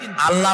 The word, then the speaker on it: আল্লাহ: বলেন তো, আল্লাহ নয়, কিন্তু আল্লাহ হচ্ছে অশুদ্ধ, শুদ্ধ হচ্ছে আল্লাহ। বলার সময় মুখটা গোল হয়ে যাবে।